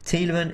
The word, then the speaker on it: Tielemans: Tielemans is a Flemish name, not French. Oh, I think he's telling me that this is why I should be pronouncing the S.